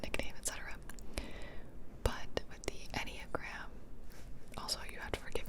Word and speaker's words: Enneagram: E-N-N-E-A-G-R-A-M, I was right.